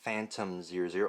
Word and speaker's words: Fatum: This is called the Fatum-00 or Fatum-00, spelled with an F rather than a PH.